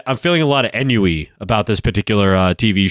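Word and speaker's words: ennui: feeling a lot of enui about this particular uh tv show and wish to learn more i know that's pronounced on wheat right i mean i i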